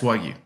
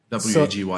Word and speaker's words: Wagyu: Yes, Wagyu. W-A-G-Y-U. So it's pronounced Wagyu?